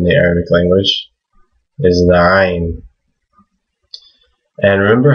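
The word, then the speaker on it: عين: Arabic was pronouncing the Ayn. It is in the throat, but it's a consonant. It's not a vowel.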